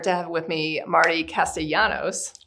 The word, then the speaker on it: Castellanos: Today, I am honored to have with me Marty Castellanos.